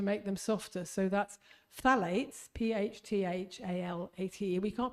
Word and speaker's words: phthalates: So that's phthalates, P-H-T-H-A-L-A-T-E. We can't pronounce them, but we can detox them. Okay, phthalates.